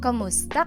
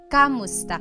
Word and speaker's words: kumusta: Kumusta ka? Kumusta ka? So it's spelled K-U-M, kumusta ka. But sometimes you might hear some people say kamusta ka, like it's a K-A sound.